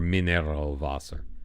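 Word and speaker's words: Mineralwasser: words are funny like mineral water is mineral vaser or minero vaser you got to pronounce it like a German minero Okay so we've been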